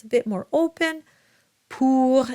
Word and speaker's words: pour: Pour, and here's a nice oo sound. I always say it sounds like an owl. Hoo.